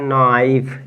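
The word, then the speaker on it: knife: एक क्या लिखा है नाइफ यान के साइलेंट हो जाएगा तो लिखेंगे इसको इसका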